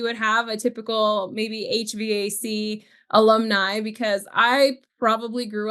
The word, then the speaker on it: HVAC: Am I mispronouncing it by saying HVAC? No, it is HVAC, but it is. I've got Havok in there probably.